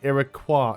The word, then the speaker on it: Iroquois: I've always been taught that it was Iroquois, but I've heard other people say Iroquois as well, plus a few other variations.